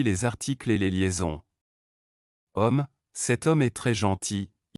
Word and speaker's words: homme: En français, lorsqu'un mot commence par la lettre H, cette lettre est muette et ne se prononce pas. C'est comme si elle n'existait pas, cela affecte aussi les articles et les liaisons. Homme, cet homme est très gentil.